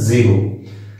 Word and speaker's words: xero: Biology में XERO इसका उच्चारण है जीरो।